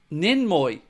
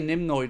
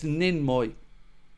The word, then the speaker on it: Ninmoy: Um Ninmoy. Ninmoy. That's it. I say Nimoy, don't I? Apologies, sir. It's Ninmoy. Ninmoy.